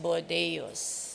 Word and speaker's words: Bordeos: i've been mispronouncing your surname so it is pronounced bordeus i have this office meet uh way back